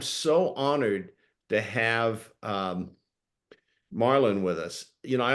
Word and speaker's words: Marlon: I first met Marlon I always called him Morlin because that's how it's spelled and then he corrected me that it's Marlin named after Marlin Brando and sometimes we just